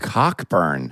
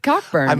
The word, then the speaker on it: Cockburn: Wait, it's really pronounced Coburn? It Okay, but this is the thing. In In Scotland, it is pronounced Coburn.